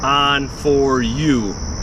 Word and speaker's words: Onforu: brand name of this it's a lot simpler on for you like the light switch is on for you I'm a little slow